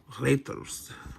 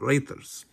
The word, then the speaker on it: Reiter: Reiters. Not raiders, but Reiters.